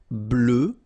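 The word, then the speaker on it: bleue: Bleu, bleu. So same thing that we had for noir, you just add this E at the end, but then you don't pronounce it.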